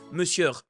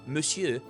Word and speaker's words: Monsieur: So here, for example, he said Monsieur with a R, and it is spelled with an R, but he should know as a French person that it's pronounced Monsieur and not Monsieur.